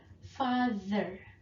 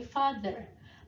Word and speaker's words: father: Okay, be careful when you pronounce TH. TH-nya pengucapannya adalah gitu ya. Jadi lidahnya di antara gigi kemudian ditarik ke belakang. Father, mother. Okay, father, mother.